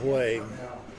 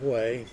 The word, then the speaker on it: Hue: landed up south of Hue at a base there, and I can't remember the base. Then we drove around Hue, and it's spelled H-U-E, and I still pronounce it W-A-Y.